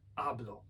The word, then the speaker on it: hablo: Ja mówię hablo, yo hablo, akcent na pierwszą, ale gdy powiem hablo,